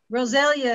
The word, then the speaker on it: Rosalia: Rosalia is how you pronounce that.